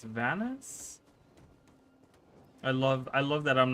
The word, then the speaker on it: Vanus: She says Venus, but it's Vanus.